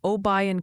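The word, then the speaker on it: Obion: suggesting it's Mina Arkansas New Madrid Missouri and obayan County tenen keep dodging those tricky names Mina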